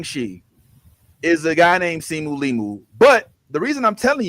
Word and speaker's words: Simu Liu: Okay, it's not Liu. I love you. You say that man's name wrong one more time. Trouble. It's more than a thousand% not Liu. It's L I Su Liu. Simu Liu.